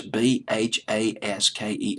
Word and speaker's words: Bhasker: Mark Ronson wrote this record along with Bruno Mars, Mars and Philip Lawrence, and a fellow named Jeff Basker. It's Bhasker. I'll just pronounce it as Basker.